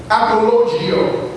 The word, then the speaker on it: apologio: Apologetics comes from the root word apologio. That's spelled A-P-O-L-O-G-I-O.